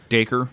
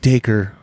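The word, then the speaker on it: Dacre: Internet to find out it's pronounced the same or same way as the word acre would be able with the D at the beginning so it's de coeur de coeur Montgomery yeah he's a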